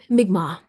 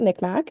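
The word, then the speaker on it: Mi'kmaq: Migma. Migma. Okay. We definitely pronounced it mikmack on one of our episodes. So, apologies to the Migma people.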